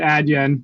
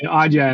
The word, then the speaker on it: Adyen: I I always pronounce it Adyen. But thank you for pronouncing it appropriately, Audya.